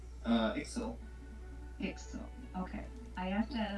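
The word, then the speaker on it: Iczel: before how is i c z e l pronounced uh excel excel okay i have that on the live stream you did emerge dragons when tulsi was on vacation last year and i forgot excel okay oh you're loud janet there's no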